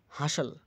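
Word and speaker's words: hustle: হাস্টাল, হাসল, হাসল, ঠেলাঠেলি, ব্যস্ততা।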